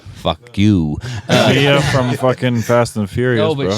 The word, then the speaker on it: Mia: It's Mia. It's Mia. It's Yeah. I am cultured. I am cultured. you said it's Mia, not Maya.